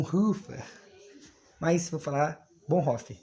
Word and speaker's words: Bonhoeffer: meses coisa interessante sobre o bonfe vou falar bom fique mais a pronúncia correta segundo o professor Luterana dia Cris bom Rafa Mas se eu falar bohnhoff é como eu ouvi primeiros coisa interessante sobre